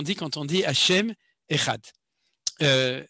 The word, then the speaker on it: Echad: réponse est très simple, il faut le prononcer comme les Yéménites qui le prononcent comme le the anglais, c'est-à-dire il faut dire